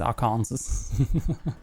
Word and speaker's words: Arkansas: It's Arkansas.